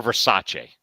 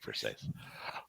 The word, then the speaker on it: Versace: Grizzlies I'm friends with his son Dave versus or Versace as some people like to say but really he pronounces it for safe all right well uh